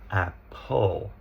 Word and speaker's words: apple: So what happens here? If we listen apple. Ah, there's the schwah. And this causes lots of problems with spelling because we hear the we think that must be e r. So it's apple.